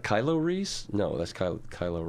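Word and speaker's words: Reese's: the RI es so it's kind of like you take the F off of fries right fries like french fries fries right but it's pronounced Reese Reese Reese yes I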